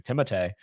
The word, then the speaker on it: Timothée: Timothée, 'cause that's how you say his name, Timothée.